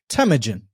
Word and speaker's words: Temujin: today's guest the marketing director for want chain temujin welcome to the show brother thanks a lot